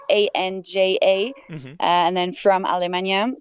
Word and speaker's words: Anja: And important, Anja is spelled the German way. So it's Anja, Hmm.